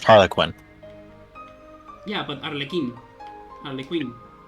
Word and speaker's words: Harley Quinn: It's pronounced Harlequin.